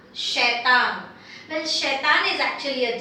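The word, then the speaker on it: शैतान: So you pronounce it as shaitan, shaitan.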